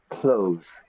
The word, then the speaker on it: clothes: Every morning I put on my, it's not clothes, it's like I open the door, I close the door. I am wearing clothes. It's exactly the same pronunciation, right?